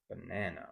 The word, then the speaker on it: banana: So banana, banana, right?